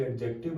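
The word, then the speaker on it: adjective: friends आपको बोलना जी एडजेक्टिव बन जाएगा एडजेक्टिव के अंदर डी साइलेंट होता है ध्यान रखना नंबर फोर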